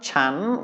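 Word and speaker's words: ฉัน: and it is a high-class consonant with a live syllable because of the sonorant final. And so it is a rising tone, pom. Same is true for the next one, chan, which is the first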